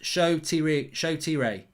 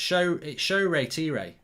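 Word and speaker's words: Shoretire: Ben says Nigerian name pronounced Shotire. Well, you forgot the re in it. It's show re tire. That's what I've been told it is.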